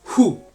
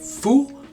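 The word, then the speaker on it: ふ: F-U, or hu, H-U is how to pronounce it. But it's actually like a mixture between them. It's not quite fu, but it's not hu, it's fu, right?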